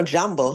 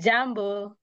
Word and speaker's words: Jambo: so it's so we have to hear every syllable like that so asabi okay I know jumbo I heard that in a song one of my songs jumbo W yes yes Jambo Jambo yes so jumbo is like saying hello